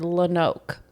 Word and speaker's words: Lonoke: Like lone, one word, oak, another word. Okay. It's pronounced that way, but it's spelled Lonoak, like one word, Lonoke, but they pronounce it Lonoke.